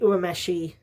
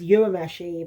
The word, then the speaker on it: Urameshi: We meet 14-year-old Yusuke Urameshi. Alrighty, Funimation dub pronounces Urameshi, but I think it's pronounced Urameshi. So I'm going to say how the Japanese say it.